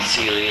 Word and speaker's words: Cielle: Cielle, Cielle, how would you pronounce that? Seal. Or like Sealy? Yeah, like Sealy, like Cecilia, but Sealy.